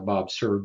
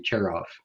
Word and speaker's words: Cerv: So, Bob Cerv, and for those that don't know, yes, the more popular pronunciation is Bob Cerv, but it's actually Cherov is how you pronounce that.